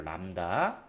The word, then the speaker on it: 람다: 진동수 F 곱하기 파장 람다 이렇게 쓰고 람다라고 읽어요. 람다.